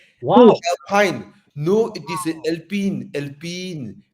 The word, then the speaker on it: Alpine: Imagine some Kampung uncle see the Alpine, they say Alpini. No lah, we call Alpine lah.